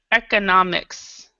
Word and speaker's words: economics: so the stress um the stress on this one is here economics but with this one